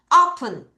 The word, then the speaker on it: open: open. 다시 open. 다시 open. 이가 에 발음 아니야. 으 발음.